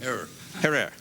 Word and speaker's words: Herer: Jack Herrera. Have I pronounced it correctly, Jack? Herrera.